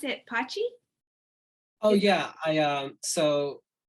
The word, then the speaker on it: pace: heard you pronounce it pochi oh yeah i um so when i when i came on board uh they mentioned that apache because that's how it's pronounced in italian and it actually that's